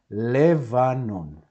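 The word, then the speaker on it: לבנון: That it's really difficult to pronounce lvanon. So, in some cases, when we have these two dots, we tend to pronounce as an e, a short e. In this case, it can be used, of course, because otherwise it's impossible to pronounce it.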